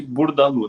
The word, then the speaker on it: Bourdaloue: Pronuncia-se Burdalu, né? Que comentou, tá ótimo esse francês. Tá ótimo. Tá valendo, né? Tá valendo. Vamos melhorar ainda. Então, pessoal, tarte Burdalu, tá?